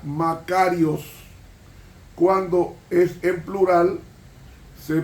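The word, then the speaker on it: μακάριος: el adjetivo Bienaventurados en el griego bienaventurado se pronuncia macarios cuando es en plural se pronuncia Macario ahora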